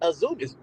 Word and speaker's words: AZM: Azumi. Wait, there's no I though. But it's pronounced Azumi.